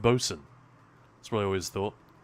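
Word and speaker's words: boatswain: Isn't Bosen spelled boat swain? You know, I'm pretty sure it's not spelled like that, isn't it? Boat Swain, but it's just pronounced Bosen.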